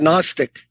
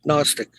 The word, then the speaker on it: Gnostic: We see it in the English word Gnostic. Gnostic means knowledge, a type of knowledge, very secret type of knowledge. Gnostic.